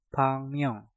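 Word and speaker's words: 박명: Pak diakhiri dengan giok, setelah itu diikuti kata myeong yang diawali dengan miem. Nah, kalian rubah suara gioknya menjadi suara nyiyeng. Dan untuk kata ini pengucapannya menjadi pangmyeong, pangmyeong, pangmyeong, pangmyeong.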